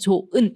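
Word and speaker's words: 좋은: 그런데 발음할 때 조은이라고 히 탈락. 우리음 변동에서 탈락 규칙 중에 자음 히은 뒤에 모음이었을 때 조 발음하기 어렵다. 그래서 조은 히웃이 탈락되죠. 자,이 탈락되는 경우는 기억과 니은이 아니라 예외적인 규정으로 봐야겠죠.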